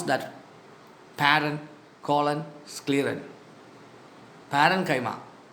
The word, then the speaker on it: parenchyma: Parenchyma, collenchyma, sclerenchyma. Paren, colon, scleren. Pronounce that. Paren, colon, scleren. Parenchyma, collenchyma, sclerenchyma.